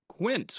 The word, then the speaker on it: Quint: So, I understand that it's not the Spanish word for 15. It is quint.